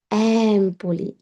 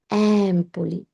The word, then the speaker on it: Empoli: Same ভাবে এম্পলি, এম্পলি, এটা কখনো কেউ শোনে নাই, আমিও এম্পলি কখনো যাইনি, বাট এটার উচ্চারণ হচ্ছে অ্যাম্পলি, অ্যাম্পলি।